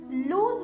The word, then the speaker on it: lose: लूज word में एस को Z pronounce किया जाता है और ये एक वर्ब है।